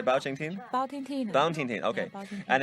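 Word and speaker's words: 包青天: Bao Ting Teen.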